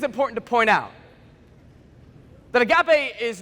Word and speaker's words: agape: No, but say it like a fun way, like agape.